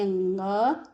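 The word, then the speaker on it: ङ: कुछ राज्यों में सब कणा पढ़ देते हैं, नहीं, इसको पढ़ते हैं अंग, इसको या, इसको ण, इसको न, इसको म।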